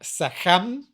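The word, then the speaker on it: sekhem: In Egypt, we would talk about sechem or sekem. Sechem would be most likely how they would have pronounced it.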